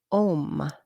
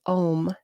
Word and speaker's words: om: manifested as the sound om o m the vibration of the Supreme some people say it's pronounced a-u-m and some say o m but anyway the word